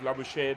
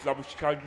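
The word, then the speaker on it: Labuschagne: I was initially tempted to use the Australian pronunciation of Labush, but Manus Lush himself says it's Labushki in South Africa, so I'll resort to that.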